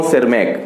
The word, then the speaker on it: Tschermak: Third जो है Eric von सेरमैक, तो यहाँ पे टी यहाँ पे साइलेंट है, पूरा स्पेलिंग होगा ERICH, Eric, VON वॉन, TSCHERMAK, ठीक है।